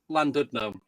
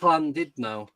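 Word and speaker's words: Llandudno: ID fella is is living in land Landno. Yeah, but it's pronounced Landidnau.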